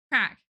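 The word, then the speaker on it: craic: Crack. This is pronounced crack.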